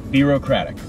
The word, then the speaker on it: Birocratic: for the people okay a lot of people get it wrong yeah yeah be real kradic that is how you pronounce my name my name is